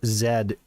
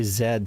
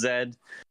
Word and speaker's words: Z: game is z or Zed I we should say Zed since we're talking about Pal games yes you should it is Zed uh it was not